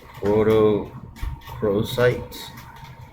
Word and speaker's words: rhodochrosite: 10 is the rhodochrosite, which is RHODOCHROSITE.